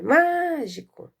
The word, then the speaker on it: mágico: Então, aqui, nós já podemos identificar que a sílaba má é a mais forte.